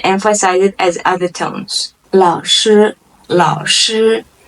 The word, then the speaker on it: 老师: 老师 Lao is the third tone. Shi is a first tone.